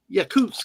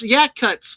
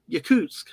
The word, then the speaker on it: Yakutsk: Yakus. Oh yeah. Yeah. Thank you. You corrected me because I know Anna's told me that before. But I I'm sorry. It's yak cuts to me because that's the way we tried